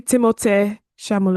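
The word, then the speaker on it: Timothée Chalamet: I don't know anything about Timothy Shamay. Shamalu. I don't even know how to say his name. Timothy Shalamé. It's actually Timote Shamalu.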